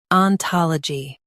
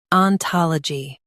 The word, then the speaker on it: ontology: Stress ta in US and tol in UK. Keep l light.